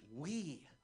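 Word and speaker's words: Huy: my Vietnamese name is spelled h uy and it's pronounced we we win is my real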